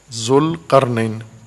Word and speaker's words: ذوالقرنین: ذوالقرنین، ذوالقرنین درست تلفظ کیا کریں.